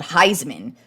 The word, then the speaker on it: Highsman: And I was also reading about Ricky Williams has a new line of cannabis as well called Heisman, spelled Highsman, like Heisman, instead of spelled like the Heisman Trophy, because, you know, he won a Heisman Trophy, so I think that's a perfect name.